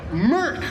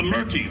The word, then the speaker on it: Merc: Merc is the line you're supposed to say. What? You said a different word that rhymes with that, but it's Merc.